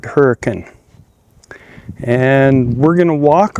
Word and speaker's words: Hurricane: area like Utah, but they also don't pronounce it Hurricane, they pronounced it Hurkin.